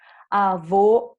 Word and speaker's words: avô: a vogal para vocês avô fechado era masculino e avó aberta era feminina nosso fantasma da sensação